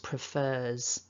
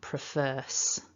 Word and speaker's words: prefers: and that's why it prefers and not prefers because that takes more effort to try and turn it into an s so it's easier for your throat to just continue that vibration and that's why it's